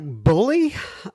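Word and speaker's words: Bulli: called it looks like Bully uh could be pronounced bully uh b-u-l-l-i which is near Sydney Australia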